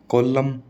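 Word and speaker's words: column: भी एम एन आ जाए ना तो एन साइलेंट रहेगा एम ही बोला जाएगा जैसे कोलम ठीक है कोलम कोलम थोड़ी बोलते हैं कोलम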